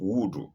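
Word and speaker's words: wudhu: Wood or wu is spelled w u d h combined and then u len woo.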